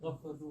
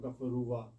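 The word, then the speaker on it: غَفَرُوا: Why is it not gafaruwa? No, this alif is silent.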